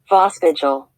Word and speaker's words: Voskuijl: It's pronounced... Voskagel. Voskagel?